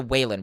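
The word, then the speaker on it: Wayans: I don't mean to offend it's it's pronounced the Wayland Brothers, right? Whan Brothers. Yeah.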